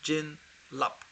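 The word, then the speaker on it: byin rlabs: Yeah, so there's two things, two syllables. Jin lap.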